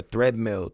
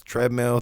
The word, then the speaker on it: treadmill: born on a treadmill a threadmill treadmill I say it wrong my dad says it wrong and he taught me how to say it wrong but it's treadmill threadmill I get uh yeah